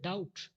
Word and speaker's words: doubt: see some silent letters in the word doubt there is a silent letter that is b next wrong silent letter